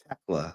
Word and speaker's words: Thekla: It's Thekla. The H is silent.